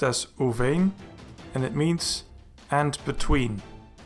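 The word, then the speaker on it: וּבֵין: It is pronounced as uvein, and it means and between.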